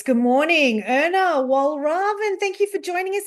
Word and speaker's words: Walraven: It's good morning Wal Raven.